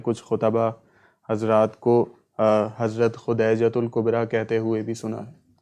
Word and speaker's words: خدیجۃ الکبریٰ: جی، تو وہ lower degree اس کا معنی خدیجہ کا، لیکن میرے نزدیک صحیح تلفظ خدیجۃ الکبریٰ رضی اللہ تعالی عنہا یہی ہے۔ اگلا سوال راول پنڈی